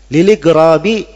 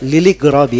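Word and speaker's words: لِلْإِغْرَابِ: Liligrabi idza mastugriba. Alasan lain, dan karena igrab, agar supaya orang merasa aneh dengan hal tersebut. Itu bacanya liligrabi ya, bukan lil igrabi, tapi liligrabi.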